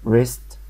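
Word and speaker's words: wrist: عارفين كلمه رايت يعني يكتب يعني يكتب ما نطقنا الدبليو فبقت الكلمه رايت طب الكلمه التانيه ريست ريست اللي هي راحه اليد الاييد بيبقى الايد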